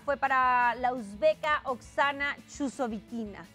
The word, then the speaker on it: Chusovitina: Chusovitina. Chusovitina. Ah, oye, ¿qué tal que si estuviera pensando en español diría chusovitina como en mi norte? En la CH tengo ese problema. Como Sharapova.